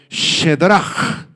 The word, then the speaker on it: Sadrac: A este jovencito Ananías le cambiaron el nombre por el nombre perverso de Sadrach, el nombre babilónico Shedrach, así se pronuncia, significa real, o también